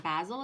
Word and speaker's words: Basil: Mike says, and Basil is pronounced with a long A.